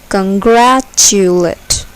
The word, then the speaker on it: congratulate: Here, the second syllable is accented. Congratulate.